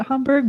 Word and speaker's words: Hamburg: You sure it's not Hamburg? Chat room. I hear a lot of Americans pronounce it Hamburg, but Yeah.